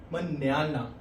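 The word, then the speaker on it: mañana: हमेशा जब मैंने आपको पहले फर्स्ट टाइम में बताया था कि एन के ऊपर अगर टिल डे आ गया तो उसका नहा हो जाएगा वो। इसलिए इसकी प्रोनाउंसिएशन हो जाएगी मन्याना।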